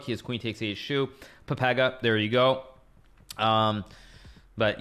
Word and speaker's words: Pepega: It's pronounced pepega.